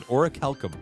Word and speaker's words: orichalcum: So that's how you pronounce it, orichalcum.